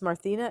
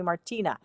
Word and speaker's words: Marthina: Yeah, but my real name is Marthina, and no one can seem to pronounce that. For many years, they could pronounce Marthina, and in the last 5 years, it's dropped the H out of it, and everybody wants to call me Martina. I'm like, no, there's an H.